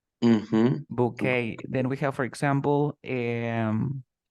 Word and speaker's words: bouquet: the word in English because this is a French word we say bouquet bouquet then we have for